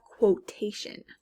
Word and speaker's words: quotation: Next we have quotation. Quotation. Something that someone says. Quotation. That's obviously the first syllable. It's beginning the word, quo, and we can hear the QU clearly. Next we have liquid.